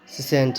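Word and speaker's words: scent: रहेगा एस सीई एनटी सेंट सेंट नहीं पढ़ेंगे सी साइलेंट रहेगा और य एस ई एन टी ही पढ़ेंगे सेंट पढ़ेंगे ठीक है फिर साइंस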